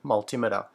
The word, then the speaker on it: multimeter: i do hear people call it a multimeter like altimeter which sounds strange yeah matt smith said multimeter that's how i pronounce